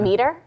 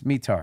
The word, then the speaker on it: METAR: you pronouncing that rock is it not meter no it's metar it's called it's an